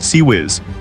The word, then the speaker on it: CIWS: It's pronounced SE whiz.